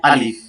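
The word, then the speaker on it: ألف: দাড়ি নাই এটা হচ্ছে আলিফ এটার উচ্চারণ শক্তভাবে আলিফ আলিফ শক্ত ভাবে উচ্চারণ হবে আলিফ আলিফ তারপর যে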